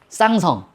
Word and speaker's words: 쌍성: 어, 쌍성이라고. 쌍성 발음 조심해라. 한 쌍의 별이죠.